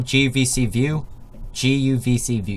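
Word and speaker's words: guvcview: So if you open up GUVC view, yeah, that's how you say it.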